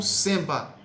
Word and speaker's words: semba: O samba, na verdade, vem de Angola, que na verdade em Angola era conhecido como semba, com E não com A, como nós pronunciamos.